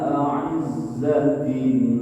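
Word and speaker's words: أَعِزَّةٍ: Adillatin 'alal mu'minina a'izzatin jangan salah juga. Pertama alif hamzah a, yang kedua ain a'izzatin. Jadi harus dapat dan harus beda a hamzah atau alif dengan ain ulangi ya. Adillatin 'alal mu'minina a'izzatin 'alal kafirin.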